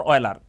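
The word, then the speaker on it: Euler: Next होता है यूलर number, यूलर और ऑयलर, ये इट्स अपन यू कि आपका कैसे आप प्रोनाउंसिएट करते हो।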